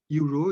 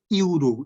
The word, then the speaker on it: Euro: it's pronounced it as Euro a Euro coin means Nepali yeah you Nepali you and English y u English why you pronunciation is not the vowel sound though it starts with the vowel alphabet but the pronunciation always